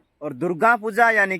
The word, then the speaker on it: दुर्गा: और दुर्गा पूजा यानी कि देवी देवता को हम हमारा भाषा में दुर्गा बोलते हैं, नॉट दुर्गा, दुर्गा। नाक से थोड़ा प्रोनाउंसिएशन करना पड़ता है।